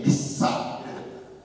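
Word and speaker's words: missa: 자, 미사, 이게 라틴어로 영어로 이제 제가 발음을 하면 M-I-S-S-A, 미사.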